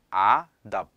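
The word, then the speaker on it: আদাব: 이제 방글라데시 같은 경우는 그 인사를 아답이라고 해요. 아다버. 자, 어떻게 발음하냐면 한 번에 아답.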